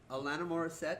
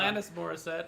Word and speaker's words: Alanis Morissette: Tom Cruise, Alana Morissette. This person Alana has a Morissette mummy. is not in that Yeah. movie. Alanis Morissette is her Um, name. If you're gonna say it right.